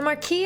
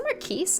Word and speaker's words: Marquis: The Marquis and his new bride will need all the help they can get. It's the Marquise? It's the Marquis, right? You don't pronounce the S, right?